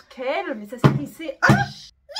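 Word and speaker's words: Chaol: donc il paraît qu' ça se prononce apparemment quelle mais ça s'écrit C H a o l bah oui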